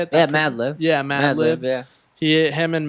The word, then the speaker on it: Madlib: Malib. How do you say it? Yeah, Madlib.